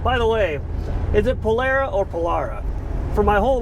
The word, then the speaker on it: Polara: Sure grip in the Polara world. By the way, is it Polara or Polara?